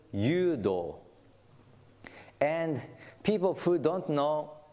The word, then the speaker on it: Judo: is also spared j-u-d-o as in English but pronounced yudo and people who don't